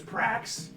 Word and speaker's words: Prax: It rhymes. The planet's name is Prax. Brax is on Prax.